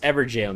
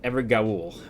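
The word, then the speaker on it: Evergaol: So I found out this is pronounced Everjail, not Evergaul.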